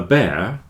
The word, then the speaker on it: bear: long Fair hair a bear with long Fair hair so this word bear a very difficult one for people to pronounce if you just remember